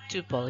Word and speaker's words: tuple: A record also called a tuple ya. Rhymes with couple is a set of